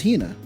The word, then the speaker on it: Hina: Is it Hea or Hina? That was Hina. Have I been saying it wrong?